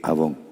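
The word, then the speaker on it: avon: Pero se escribe así. A V o N. Abón.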